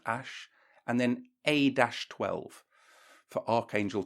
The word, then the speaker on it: Æ: you know the word the letters A and E joined together apparently it's pronounced Ash and then a-12 for